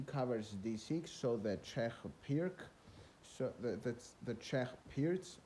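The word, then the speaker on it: Pirc: him then he covers d6 so the czech pirk so that's the check appears to pronounce it correctly where he recommends f4 and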